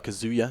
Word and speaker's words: Kazuya: And actually you can see KZ Y or Kazuya, excuse me. I've been told that that's apparently how you're supposed to pronounce it. Of course, absolutely no way of understanding how that says Kazuya.